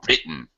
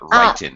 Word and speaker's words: written: And be careful pronunciation of the past participle is written, not written. Written. Sorry, written. Okay. The I, write, of course, is a long I. Written, it's a short I.